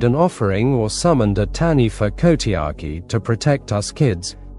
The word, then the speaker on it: Taniwha: In Maori legend, folklore, there is a creature called the Taniwha, pronounced Ta-Nifa, which guards certain areas in